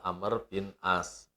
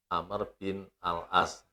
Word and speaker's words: Amr bin al-'As: hasil yaitu namanya adalah Amr Bin as aslinya Amr Bin al-'ash kemudian halnya dihilangkan untuk cara pengucapan di Indonesia sehingga Amr Bin as pikir saja berikutnya